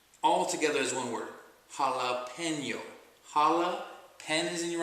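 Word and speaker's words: jalapeño: a p e n y o and just pronounce it all together as one word jalapeno Hala pen is in your right withth and Y jalapeno jalapeno and that's how you pronounce this word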